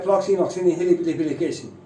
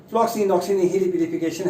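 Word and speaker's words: floccinaucinihilipilification: तो इसकी प्रोनाउंसिएशन है फ्लॉक्सीनॉक्सीनिहिलिपिलिफिकेशन। फ्लॉक्सीनॉक्सीनिहिलिपिलिफिकेशन है इसकी प्रोनाउंसिएशन। फिर से बोलते हैं, थोड़ा धीरे धीरे बोलते हैं। फ्लॉक्सीनॉक्सीनिहिलिपिलिफिकेशन, फ्लॉक्सीनॉक्सीनिहिलिपिलिफिकेशन, फ्लॉक्सीनॉक्सीनिहिलिपिलिफिकेशन इज the first word in the series of these 10 words.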